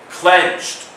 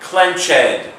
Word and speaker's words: clenched: up number 10 clenched note the silent E clenched not clenched clenched number 11 Triumph